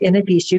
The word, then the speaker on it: Anabishu: I pronounce it Anabishu because that is the easiest for me to pronounce. Some people pronounce it Mishibishu, but to me that sounds too much like the car, so I will go with Anabishu.